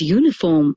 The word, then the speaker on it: uniform: Although the word uniform starts with a vowel, the sound at the beginning of the word is U. The word therefore begins with the consonant sound y, so the article a and not an is used.